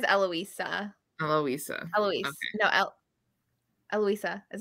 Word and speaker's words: Eloisa: name eloisa oh no I say Louisa she says eloisa helloisa Eloise no eloisa